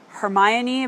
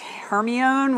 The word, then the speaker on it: Hermione: like Harry Potter and the character's name is Hermione but you're like her my own when you're reading it